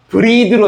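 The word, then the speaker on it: breathe: e이를 붙이면 발음이 브레스가 아니라 브리드로 합니다 브리드.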